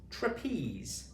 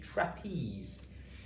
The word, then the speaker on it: trapeze: T-R or trapeze. Okay, trapeze. So the e is joining the e here to make the e sound and z is the last sound that we pronounce in this word.